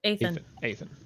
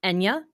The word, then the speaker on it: Eithne: This spelling of it's Irish Gaelic, and the more common pronunciations are, okay, it's spelled Eithne, right? The most common pronunciations of that are Enya, Etna, and Ina.